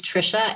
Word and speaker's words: Tricia: that I'm gonna introduce Trisha Trisha am I pronouncing your first name correctly it is Trisha and it is Brooke the last name throws